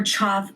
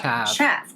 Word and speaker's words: chav: A bit subtle for Chau makeup. What do you even freaking mean? Pronounced Chav makeup. Chav. Correct.